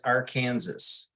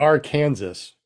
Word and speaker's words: Arkansas: names right we got to get you to pronounce the state you live in right I'm pretty sure it's Arkansas or is it our Kansas why is Illinois have a S at the